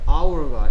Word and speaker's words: hour: 시간이란 뜻일 때 hour가 H가 소리 안 나죠. hour가 아니고 hour니까.